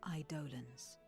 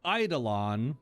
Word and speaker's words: Eidolon: So Eidolon is how I've always heard it pronounced.